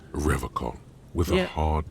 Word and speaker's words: Revachol: But apparently he pronounced it with a hard K, so Revachol.